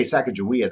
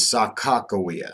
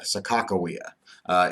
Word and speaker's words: Sacagawea: now when I say Sacagawea that's actually more of the American pronunciation of her name and I apologize if